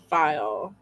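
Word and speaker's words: faille: Oh, Janet said that weird fabric is pronounced file.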